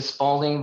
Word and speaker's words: Spaulding: The Spaulding that makes the sporting goods doesn't have a U in their name.